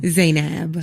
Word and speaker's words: Zainab: up your name okay please say it again zeyneb say Knapp Zainab's a nap like I'm like petrified